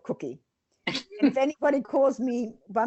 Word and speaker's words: Kucki: Anyway, yeah, my name is pronounced just like the edible one, Kucki, but it's spelled Kucki.